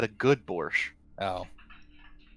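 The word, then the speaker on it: borscht: can make a good borch uh in Russia not very I said a good borch oh thought it was borch you can't you can't hear me pronouncing the T look if if if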